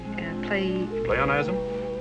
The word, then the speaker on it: pleonasm: You call it, Pleonasm? Yes, that how you pronounce it?